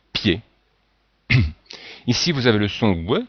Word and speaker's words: pied: le I et le mais on ne dit pas P mais on dit pied ici vous avez le